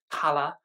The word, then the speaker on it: Kala: albums I have reviewed Cala or hala as she pronounces it and I really